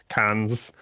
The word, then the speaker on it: Cannes: the past 2 weeks at Cannes, um, which is the right way to pronounce it.